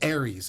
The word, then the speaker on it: Aries: Aries. Aries. I'm gonna get it one time. Just like the zodiac sign.